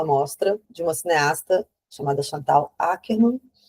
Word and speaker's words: Chantal Akerman: Organizei o catálogo durante uns anos, depois propus uma amra de uma cineasta chamada Chantal Akerman. Chantalerman para alguns que preferem a pronúncia francesa.